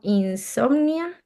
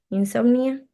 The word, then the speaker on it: Insomnia: Aquí estaban mencionando que existe, por ejemplo, Insomnia, si no estoy mal se pronuncia así, Insomnia.